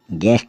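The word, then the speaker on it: guest: टंग मतलब जुबान जी यू ई एस टी गेस्ट मतलब अतिथि या मेहमान अब चलते हैं हम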